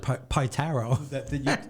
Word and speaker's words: Pietaro: Just pronounce it Pietaro.